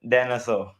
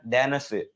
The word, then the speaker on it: Danesoe: Danesoe. Okay, Like a dinosaur. Dinosaur. It's like Danish name. It's in Danish we call like Danesoe. But in English I think it's Danesoe.